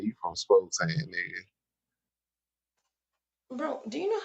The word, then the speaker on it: Spokane: and by the way it's pronounced Spokane five hours and 45 minutes away um Spokane that's cougar country that's